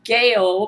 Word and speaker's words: Gail: any more chasing of gaale pronounced like my name uh spelled GA A1